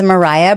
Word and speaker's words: Mariah: that don't know me my name is Mariah like Mariah Carey but it's spelled with all A's and I'm passionate about